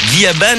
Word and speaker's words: Gabin: VO Yushu Kaiji Gyaban, Gyaban étant le vrai nom d'Ixor, et c'est également ainsi que les Japonais prononcent Gabin.